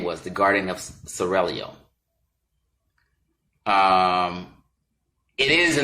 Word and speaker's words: Seraglio: Pronounce it Seraglio. I gotta roll the tongue, excuse me. Seraglio.